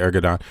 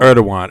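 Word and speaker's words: Erdoğan: Erdogan, I'm sorry I said Ergodon. Erdogan. Yeah. I'm sorry. Sorry about that. It's it's written Ergodon, but it's it's pronounced Erdogan. Erdogan.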